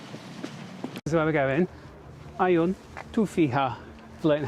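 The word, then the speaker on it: Għajn Tuffieħa: Għajn Tuffieha, learning how to say it in Maltese.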